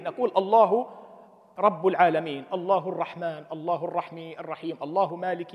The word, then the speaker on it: الرحمن: المبنى قاللك دير بالك الرحمن فيها الف تلفظ ولا تكتب اذا هي الزياده في